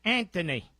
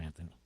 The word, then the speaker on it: Anthony: to say in Philadelphia Anthony the H is silent you know Anthony Andy see um we